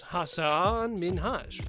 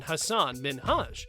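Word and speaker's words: Hasan Minhaj: ellen mispronounced his name she mispronounced his name as hassan minhaj rather than hassan minhaj and hassan corrected her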